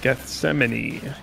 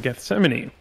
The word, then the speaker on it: Gethsemane: before and uh it's in the Garden of Gethsemane um that's how I've always heard it pronounced I don't know if other people pronounce